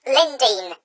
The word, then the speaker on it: Lindores: And Ben, it's pronounced Lindores.